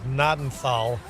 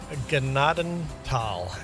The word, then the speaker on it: Gnadenthal: You may have heard it pronounced as Nadenthal, but they would be wrong. This is where I grew up. It's my map. It's pronounced Gennadenal, as in Grace Valley in German.